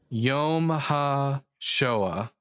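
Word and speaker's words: יום השואה: It's Yom Ha Shoah.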